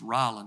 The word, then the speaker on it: Roland: In Indiana, it's pronounced Rollin.